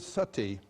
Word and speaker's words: sati: You know the word sati? In Sanskrit it's spelled S-A-T-I, long I.